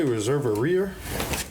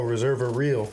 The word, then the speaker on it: Reserva Real: Did you say Reserva Rear? No, I said Reserva. Oh, Reserva Real. Yeah, Real. I thought you was mispronouncing so, reservoir.